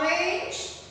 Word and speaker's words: orange: What is the spelling of orange? It is O R A N G E. And here G says J.